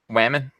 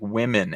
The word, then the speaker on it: women: Somebody said it's not whammon like it rhymes with ramen. No, did I say whammon? Ramen. They said it doesn't rhyme with ramen. It's like women, and he phonetically spelled it out like WIMMEN.